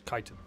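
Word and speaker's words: chitin: no kaiten isn't it it's not chittenden it's kaiten i always forget that there's a weird way of pronouncing it oh hello grab that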